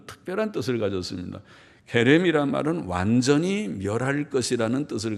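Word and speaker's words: חֵרֶם: 히브리 말로는 케렘이라고 말하는데, 케렘 혹은 헤렘이라고도 표기하고, 케렘이라고 하는 발음, 히브리어의 거친 발음, 헤렘이라는 이 말은 특별한 뜻을 가졌습니다. 헤렘이란 말은 완전히 멸할 것이라는 뜻을 가지고 있어요.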